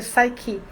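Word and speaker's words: PSYCH-K: E aí veio uma americana dar aqui um curso em Recife, chamado Psicar, que se pronuncia Psyche.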